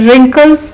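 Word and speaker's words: wrinkles: फिर रिंकल्स, जो चेहरे पे झुर्रियाँ पड़ जाती हैं उनको रिंकल्स कहते हैं, रिंकल, इसमें भी डब्ल्यू साइलेंट है।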